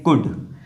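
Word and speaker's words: could: यहां पर भी एल साइलेंट है। यहां इसको पढ़ेंगे कुड।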